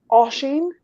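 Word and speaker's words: Oisín: kind of liked ones uh ocean is how you say it you would I've done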